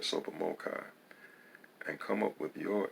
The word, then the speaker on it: TSOPAHMOCCI: issues rules analysis concerning t-s-o-p-a-h m-o-c-c-i pronounced super mochai and come up with